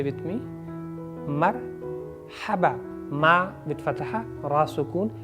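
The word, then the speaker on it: مرحبا: So, but correct pronunciation of the word is Marhaba. Try to say with me. Marhaba. Ma with fatha, ra sukun, ha abba. Marhaban.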